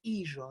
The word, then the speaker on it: hijo: Ellos, ellos, hijo. So we don't pronounce the H and the J becomes like a J.